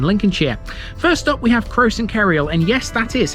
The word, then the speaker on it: Croxton Kerrial: First up we have Croxton Kerrial, and yes, that is how you pronounce it.